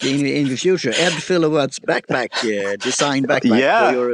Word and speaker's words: Filowat: But when I did a search on your name, Ed, is it Filowat? Is that the right pronunciation? Yes. Yeah, like kilowatt with an F.